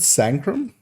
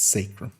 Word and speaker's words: Sacrum: Wasn't it Sancrum, or was it? Or was I saying Sancrum and it's Sacrum? I now forget. Okay, I was saying it wrong like for the first few months of Sancrum, but yeah, it's Sacrum.